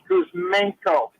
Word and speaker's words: Kuzmenko: Kuzmenko.